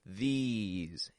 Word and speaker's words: these: when we say the sound these e the we're making a lot of pressure between the back of the tongue and the top teeth the upper teeth e these however when